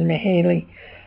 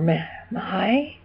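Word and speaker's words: Mihály: I'm not exactly sure how you pronounce it, but I'm pretty sure the first one is Mihaly, or Mahai. Mahai, actually, I think it's Mahai.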